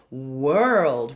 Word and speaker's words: world: We start with a glide. So if you have trouble with the W glide and you have a tendency to use a V, find an oo lip. Woo. World. And then open up the vowel.